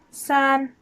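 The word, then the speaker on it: 三: three is pronounced sun and again it's in first tone flat repeat after me san san the number four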